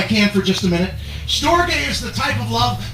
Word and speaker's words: storge: from is the type of love that's called storge s-t-o-r-g-e it's pronounced storge can everybody say that storge is what i